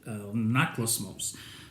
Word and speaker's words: Anaklusmos: I had to mark it so I wouldn't mispronounce this. Anaklusmos.